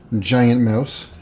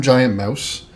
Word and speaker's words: Giant Mouse: Jagt seems to be the pronunciation of this. This is an Italian-made giant mouse.